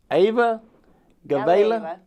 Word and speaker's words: Galeyeva: Ayla Galeyeva. Did I say it right? Almost. Almost. But she can say it right. It's Ayla Galeyeva.